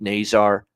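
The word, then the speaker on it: Nazar: physical element to them frank nasar uh they really like that's how you pronounce it by the way frank nasar's uh definitely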